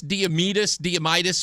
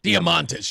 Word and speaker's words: Diamantis: It's Costas Diamitis. How do I pronounce this guy's last name? Diamantis.